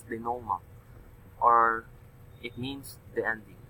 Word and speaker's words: denouement: It's a French term pronounced as denouement, or it means the ending.